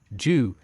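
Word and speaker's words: 九: and strength, namely Li, whilst its pronunciation, Ju, is a homophone for the word long-lasting, and with the auspicious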